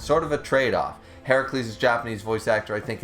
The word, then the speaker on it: Heracles: It's the Roman pronunciation with the U, not the A.